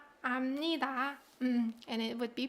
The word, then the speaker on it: 압니다: 그 단어를 이미, adverb, 이미, and then you can say 압니다, right? Not 알습니다. It's not 알습니다.